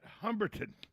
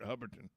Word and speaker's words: Hubbardton: on July 7th at Humberton. Where? Humberton. Tom, what? I've never heard of Humberton in my life. Well, excuse me, Hubberton. I always say it wrong. Hubberton. It's Hubbardton.